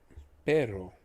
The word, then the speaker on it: pero: Pero means but. The word but, as in but I am a good Spanish speaker, is pero, P-E-R-O. Similar to the last word, the word perro, the word for dog, is P-E-R-R-O. In essence, you're adding a length in the pronunciation of the word R. So instead of pero, it becomes perro.